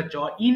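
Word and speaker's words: join: এবার জয়েন সংযুক্ত করা, জয়েন, জয়েন্ড, জয়েন্ড। দেখেন এখানে আমরা জয়েন বলি, উচ্চারণটা বিদেশিরা যেটা করে সেটা জইন বলে, জয়েন, জয়েন সংযুক্ত করা, জয়েন, জয়েন্ড, জয়েন্ড।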